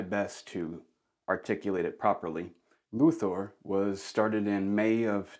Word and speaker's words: Løthur: it as well but it's Danish and it's pronounced ooh here's a quick video